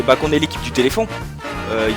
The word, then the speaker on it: téléfon: c'est que le téléphon qu'il faut bien prononcer et écrire téléphon avec un f c'est pas pH et on dit pas téléfion non plus même si c'est drôle et on n pas le Téléton même si on a rien contre les handicapés qui eux d'ailleurs peuvent prononcer téléon donc voilà donc c'est bien téléphond et pas Téléton même si c'est vrai